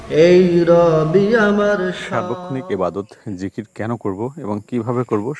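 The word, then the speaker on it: ذكر: হবে আল্লাহ তাালার সাথে জিকির মগলে থাকতে হবে এটা হচ্ছে জিকির আরবি শব্দ এর মূল উচ্চারণ হল জিকর বাংলা উচ্চারণের জেকের জিকির ও জিকির প্রচলিত এর অর্থ হলো স্মরণ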